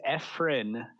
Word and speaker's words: Efrain: a in the most accurate way so it's efin so I like to say like f like